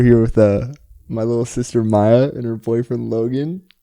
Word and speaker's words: Maya: This is my little sister and her boyfriend Logan, and her name is Maya. Rhymes with Kaya.